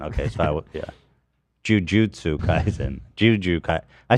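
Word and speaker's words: Jujutsu Kaisen: pronounce j u uh is it jiujitsu kaen Jujutsu jju oh yeah it's Jujutsu Kaizen okay so I yeah Jujutsu Kaizen Juju Ka I said Juju Kaizen I didn't say that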